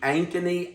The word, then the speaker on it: Ankeny: the lady said, "Thank you for calling the Ankeny, Iowa Chamber of Commerce." So I'm going to take her word for it that it's Ankeny, Iowa.